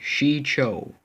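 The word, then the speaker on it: Shii-Cho: which Jedi and Sith used them form one XI Cho and that's actually how to pronounce but what we're learning lightsaber techniques a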